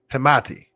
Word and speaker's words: Hamati: So this is man, he told me how to pronounce his name last night, and I don't want to pronounce it. Hamati. Yes, that's how I say his last name.